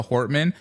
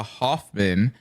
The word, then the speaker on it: Hortman: But when I hear a left side talking about Melissa Hortman, but they call her Melissa Hoffman, it's like if you can't even pronounce her name correctly, you have no business talking about her to try to honor her name.